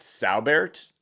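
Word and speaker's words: Saubert: correctly because you know I keep wanting to put an r in there it's just sabert ESS u b r t he is 31 years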